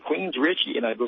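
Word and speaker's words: Queensrÿche: in a band called Queensryche." And I said, "Queensryche," and I go, "Spell that." I know the Queen's part, and then she said R-Y-C-H-E. I said, "That ain't Richie, Mom, that's Reich."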